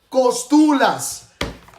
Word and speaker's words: Κοστούλας: Κοστούλας. Syllables.